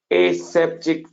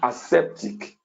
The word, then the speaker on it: aseptic: have which i want to really emphasize is aseptic technique you can also call it a septic technique body correct pronunciation should be aseptic you see a septic